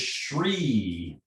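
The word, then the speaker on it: chree: all this out is sri is spelled c h r double e tree it's a little bit like the the the liver sound it starts up and then it goes down i'm going to demonstrate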